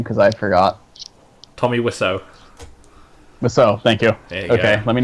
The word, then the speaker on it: Wiseau: Also, please remind me how to pronounce his name, because I forgot. Tommy Wiseau.